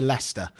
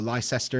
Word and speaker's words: Leicester: hit right in the center it's right near leicester if anyone knows leicester or lyster if you say it wrong same as market